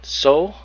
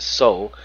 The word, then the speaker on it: Tso: I'm pronouncing that right, Soul. I don't think the T's pronounced. I think it's just Soul.